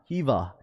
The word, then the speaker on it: Hiva: Props, you try to always say my name, but it's pronounced Hiva. Hivu. Is it Hiva? Hiva.